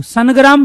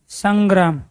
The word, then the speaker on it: संग्राम: तो इसके स्थान पे आया ना संग्राम, न थोड़े बोल, सनग्राम थोड़े ही बोल रहे हो आप संग्राम बोल रहे हो।